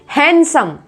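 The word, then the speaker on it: handsome: हैंडसम, हैंडसम लिखा है लेकिन हैंडसम, हैंडसम।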